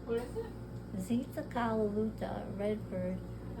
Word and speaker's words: Luta: Z what is it Zuta red bird a lot of people would say it was zala I want to say which is the different pronunciation for red but it's not and I can't even